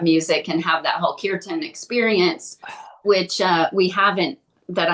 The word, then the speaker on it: kirtan: Is it kirtan? Now I'm not saying it right. Yeah, it's a kirtan.